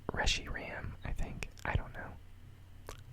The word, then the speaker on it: Reshiram: I don't really feel like changing I say Reshiram everybody says Reggie Ram I think I don't know I always end